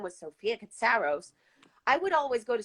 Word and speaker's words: Katsaros: Okay, so basically, yeah, in the States, you obviously get the last name of the father, which is Katsaros, and that's how they pronounce it in the USA. Now, in Greece, my father's last name is Katsaros, like the accent is on Katsaros.